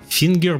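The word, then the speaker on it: vinger: опечатался Сейчас подождите Да фингер только пишется не через F голландский в читается как F фингер Мар хат хат фингер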